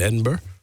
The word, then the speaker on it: Edinburgh: Uh, and then last night was doing something up in Edinburgh.